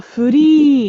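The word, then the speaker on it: フリ: free, like she's free to Ah, do furi. uh So uh that should have a long E sound.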